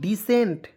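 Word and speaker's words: descent: टी तो क्या पढ़ दोस्तों डिसेंट सी को इसमें साइलेंट कीजिएगा डी को डीई को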